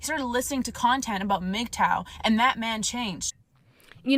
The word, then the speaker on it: MGTOW: Reva you didn't know that's how we pronounced it mgtow all right I'll give